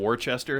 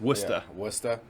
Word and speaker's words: Worcester: a lot of people want to call it warchester it's worcester no no i said land kisser wrong the